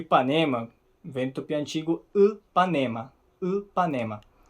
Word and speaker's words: Ipanema: ideia eu acho fascinante a pronúncia do Y é muito diferente do nosso I né um eu não sei falar direito Panema isso Isso é uma PR preciso praticar um pouco é uma pronúncia um pouco diferente é basicamente o seguinte É como se você deixasse os lábios na posição de falar i i Mas aí você tenta falar u então deixa na posição